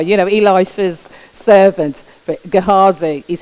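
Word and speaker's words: Gehazi: interesting and you know I didn't know how to say his name until I realized that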